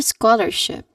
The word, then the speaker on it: scholarship: She got a scholarship. Your turn. That is good. Stressing the first syllable should be the, you know, the trick here.